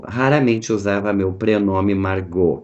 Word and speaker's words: Margaux: usava meu pré nome Margot que pronuncia se marcou e escreve margaus mas ele mesmo tinha